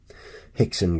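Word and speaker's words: Rickson: hoist as though it was a chai yce it's spelled ro YC e hoist Gracie Hickson Gracie you know hoyer Gracie oh all those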